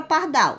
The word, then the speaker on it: pardal: Qual a sílaba mais forte na palavra pardal? Vamos chamar aqui o nome. Pardal. Então, eu falei com mais intensidade, com mais força, a sílaba dal. Então, ela é uma oxítona.